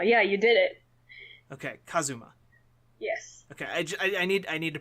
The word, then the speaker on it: Kazuma: Well, thank you very much, Kazuma. Kazuma. Am I mispronouncing the A part? No, you're mispronouncing the U.